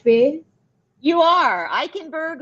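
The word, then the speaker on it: Eikenberg: today eichenberg uh that's the am I pronouncing your name in the right way you are eichenberg like I can yes okay okay so that's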